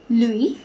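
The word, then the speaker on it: lui: it Remains the Same for sure it is Louis for L it is L it Remains the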